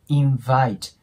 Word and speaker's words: invite: 必要なのがこの v の部分になります V の音っていうのは下口の粘膜あたりを上の刃で押えてっと発音しますなので invite V ていう音になりますねじゃあね今回も